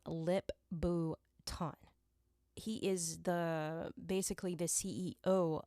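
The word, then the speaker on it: Lip-Bu Tan: So I think, yeah, you pronounce his name Lip Bhutan.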